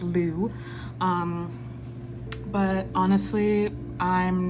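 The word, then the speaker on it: Lugh: l u g h the that God is pronounced Lou um but honestly I'm not not super great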